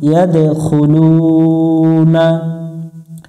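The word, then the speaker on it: يَدْخُلُونَ: ইয়া দাল জবর ইয়াদ, দাল অক্ষরের উপরে সুকুন থাকলে একটু প্রতিধ্বনি সৃষ্টি করতে হবে, যেটাকে কলকলা বলা হয়, কলকলা করতে হবে।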